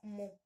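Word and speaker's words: μ: Se representa como una UCita, una U, y se pronuncia como mu.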